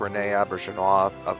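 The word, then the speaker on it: René Auberjonois: in the yellow uniform he does look like Renee auberson off yeah that's how you say his name I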